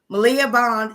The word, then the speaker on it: Maliah Bond: Maliah Bond, always pronounce her name incorrectly. Maliah Bond, is that correct?